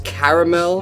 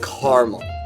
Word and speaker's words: caramel: me who does what the majority of the East Coast sees the word is three syllables pronouncing a caramel the west coast of Midwest pronounce it with two syllables caramel okay so if